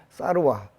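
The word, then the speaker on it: सर्व: 그 전통적인 발음으로 표현하면 옴 살바모자 모지 사다야 사바하. 원 산스크리트는 옴 사르와 붓다 보디사트와야 스와하.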